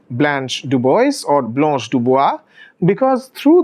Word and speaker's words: DuBois: see the sun in dubois is actually originally a french surname so the correct way to pronounce it would be to say dubois so that would actually